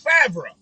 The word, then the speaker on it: Favre: before the r it's fabra his name isn't five it's fabra or five bruh but it's not firm how you gonna switch